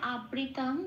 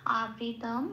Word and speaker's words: আবৃতং: প্রথম লাইনের প্রথম পার্থক্য সংস্কৃত উচ্চারণ হলো আবৃতম জ্ঞানমেতেন।